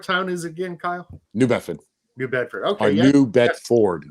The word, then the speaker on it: New Bedford: Well, no, I say New Bedford. That's how we say it up here, New Bedford. But it's properly pronounced New Bedford. There's an R in there, which we don't really.